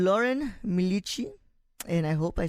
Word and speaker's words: Milici: early and she goes by the name Lauren Michi and I hope I said that correctly thank